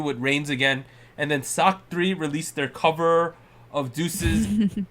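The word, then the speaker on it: SSAK3: in Korea yeah if you're not on the sock 3ss a k3 that's how you pronounce it or spell it SS a k3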